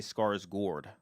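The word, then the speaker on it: Skarsgård: Swedish way, I think, is to say Scarsgour. Oh, Scarsgour. Scars. Scarsgour. Gourd. Okay. Uh, because specifically those comments, uh, one in particular was like, I really wish Americans would learn how to pronounce it correctly.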